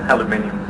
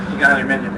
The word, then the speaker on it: aluminium: in the aluminum industry notice I pronounced it the American way um aluminium aluminium exactly just so that you